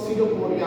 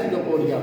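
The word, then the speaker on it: pseudopodia: इसको हम लोग सडोपोडिया बोलते हैं। सडोपोडिया। लेटरल इसमें साइलेंट होता है। ठीक है? इसमें लिखा था पिडोपोरिया लेकिन इसको पढ़ा जाता है सिडोपोरिया। पी लेटरल जो है ये साइलेंट होता है।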